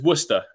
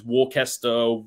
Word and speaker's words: Worcester: you're not far off so it's worcester okay i mean that one gets butchered all the time it's warcaster walkster wooster all sorts but you weren't far